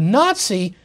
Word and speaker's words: Nazi: Now they took the first syllable from the first word, na, from nationalist. And then the first syllable of the second word is socialist, or the way a German-speaking person would pronounce that would be Sozialist. So you have na-zi.